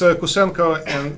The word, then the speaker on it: Kusenko: We should get the pronunciation right. Yeah. So no, it's Kusenko, but it's actually.